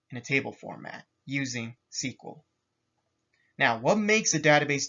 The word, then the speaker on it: SQL: Now, for relational databases, the standard is SQL, or people sometimes also pronounce it as SQL.